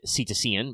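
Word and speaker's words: cetacean: Obviously, if you're familiar with your biology, the word usually said ctocian, but I guess should probably technically pronounce kitakian.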